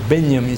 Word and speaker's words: Benjamin: Walter Benjamin, ou Benjamin, se quiserem pronunciar em alemão, o J da sua como I, já tinha antecipado a